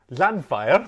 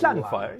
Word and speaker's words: Llanfair: Llanfair. Llanfair? The double L is not pronounced. Llanfair, yeah.